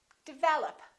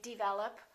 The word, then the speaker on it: develop: a lot of people develop second syllable is stressed this is reduced this is reduced develop once in a while you will hear people say develop or they might say